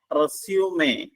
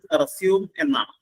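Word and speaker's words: resume: again അല്ലെങ്കിൽ വീണ്ടും തുടങ്ങുക വെർബ് ആയിട്ട് ഉപയോഗിക്കുമ്പോൾ അതിന്റെ ഉച്ചാരണം റെസ്യൂം എന്നാണ് പുനരാരംഭിക്കുക പക്ഷേ അത് നൗൺ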